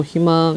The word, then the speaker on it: 희망: 끝소리 이렇게 이야기를 해요 때문에이 의 자음에 있는 의는 이로 발음한다 그래서 발음은 어떻게해요 희망 이렇게 발음한다는 얘기입니다 이게 아 어디